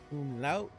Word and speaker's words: umlaut: And umlaut. How do I pronounce that? Did I say that correctly? Did I butcher it? Umlaut. Umlaut.